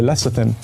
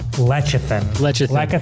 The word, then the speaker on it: lecithin: This one right here is soy lecithin. You've probably heard my Food Wars co-host Joe mispronounce this one a million times. Lecithin.